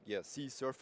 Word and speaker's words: CSRF: So the next rule is about C, surf, and love. Basically, the pronunciation for C surf, CSRF. So cross-site request forgery.